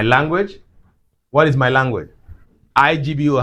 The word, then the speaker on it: Igbo: IGBO, how do you pronounce it? Igbo. Can you say that? Good. Please learn that, okay?